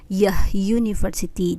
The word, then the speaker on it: university: Kayak selain unicorn misalkan university itu dibacanya university, jadi depannya a university.